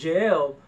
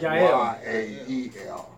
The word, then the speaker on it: Yael: Okay, well, I didn't use the proper Hebrew word, but there is no J in Hebrew. It's Y-A-E-L. Yael, yeah. Okay, keep going. Howbeit, and Yael went out to meet